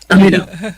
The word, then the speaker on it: Aminah: And before we get to tell me the pronunciation again, sweetie. Aminah. Aminah.